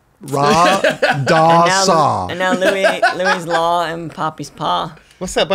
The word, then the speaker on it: Louis: Well, it's spelled L-O-U-I-S, which I think is the French. It's Louis.